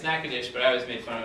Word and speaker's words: Natchitoches: It's Natchitoches, but I always made fun of him, pronounced it Natchitoches, Louisiana.